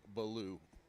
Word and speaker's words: Baloo: You got to pronounce the B-A, Baloo.